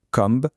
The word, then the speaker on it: comb: Si un mot se termine par la combinaison MB, alors le B devient muet, on ne prononce que le M, c'est aussi simple que ça.